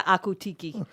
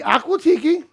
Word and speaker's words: Aquatiki: staying at the Akutiki. Speaking of which, we are having a party. Yeah, she's saying it wrong, actually. It's Yeah. Aqua.